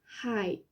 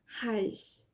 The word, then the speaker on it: ai: Mais ça peut, vu qu'il n'y a que ça comme mot, ça peut être aussi prononcé haj, avec un J un peu, haj. Hi ou haj.